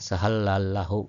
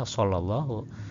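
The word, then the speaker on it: صلى الله: Apalagi yang tidak mengenal hijaiah pasti dibacanya sehallahu gitu ya. Enggak tahu gimanalah gitu ya. Pasti seperti itu misalnya salah satunya. Padahal kita yang tahu sebagai orang muslim tahu itu pasti bacanya shallallahu.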